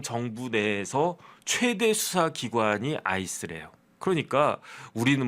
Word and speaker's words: ICE: 그런데 I라고 그 뭐라고 부르지 않고 발음하지 않고 그냥 IC가 뭡니까? 얼음이라는 뜻이잖아요. 아이스. 그냥 폴리스 아이스 아이스 폴리스 이렇게 발음을 한대요.